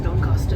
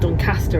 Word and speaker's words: Doncaster: We're just pulling into Doncaster now. Just had the announcement. Doncaster, I should say. I guess that's the local. How the locals pronounce it.